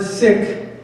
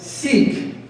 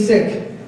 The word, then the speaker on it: Sikh: in the word sick makes a short I sound as in the word Hill or build or hit or or all this